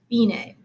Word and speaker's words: fine: would expect dc alphine that looks like our english word for fine but this is actually an italian word and it's pronounced bine okay i'm going to